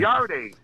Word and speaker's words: Yarde: Yarde. Yeah, you talking about made up legacy? Yarde ain't no sissy. Who? Yarde. Yarde. Yeah, you ain't even say his name right, fam. He's Yard, but it's okay.